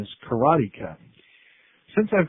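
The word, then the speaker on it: Karateka: talked about games in history is the famous kertia as I called it although I understand the proper pronunciation is karatica since I've called it karatica since the beginning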